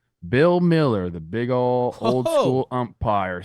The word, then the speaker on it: Mueller: Man, you ump Bill Miller at the Top Gun bar, just yucking.